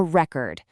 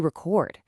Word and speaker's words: record: If you put the stress on the first syllable, it's a noun, a record. But if you shift that exact same physical stress to the final syllable, it suddenly becomes an action verb, to record.